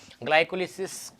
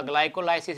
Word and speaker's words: glycolysis: क्या होता है तो देखिए, ग्लाइकोलिसिस या ग्लाइकोलाइसिस, इसको मैंने दो नाम क्यों दिए हैं वो भी समझ लें।